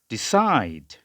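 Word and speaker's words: decide: এরপরে আর একটা কমন শব্দ D, short E, ডি, I, diphthong I, হ্যাঁ। এরপর ডি, ডিসাইড, ডিসাইড, এরকম উচ্চারণ হবে।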